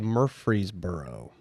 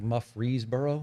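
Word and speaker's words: Murfreesboro: Testament a place called Murphreesboro oh yeah Mur it's spelled weird yes muff or whatever like mufreesboro yes yeah it's not a Murphy's no but it you would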